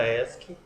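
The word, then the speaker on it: ASCII: o código esc tá que assim que pronuncia esc é destinada a um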